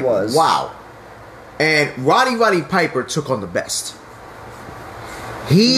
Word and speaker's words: Roddy Piper: Rowdy. No. You gotta say it right. It's Roddy Piper.